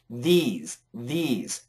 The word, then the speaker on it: these: this creature these creatures so if you watch my pronunciation this this very relaxed this this these these and you're it's very horizontal for these the plural is these these okay great job and